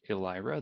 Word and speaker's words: Elyra: IRA or try it out the website is alehrer that's e ly RA dot read the docs